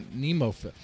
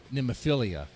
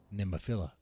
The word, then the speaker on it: Nemophila: As far as pronouncing NEMOPHILA, I've made the same mistake that a lot of people make, and I said NEMOPHILIA. I don't know why that is, because there's no IA at the end.